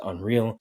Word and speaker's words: UNRL: I know some people have reached out, isn't it pronounced unreal? It technically is.